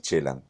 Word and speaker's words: Celan: Entonces invierte es un anagrama y lo pone, por eso la pronunciación es Chelan, ¿no? Pesaj Exactamente. es Bueno, en los franceses le hebreo. dicen Celan, yo por eso Sí, me sí, sí, sí.